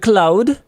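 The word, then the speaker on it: Claude: Anthropic, the company behind cloud, which is how I pronounce it, accidentally leaked the entire source code of cloud code, the AI powered coding assistant on March 31st.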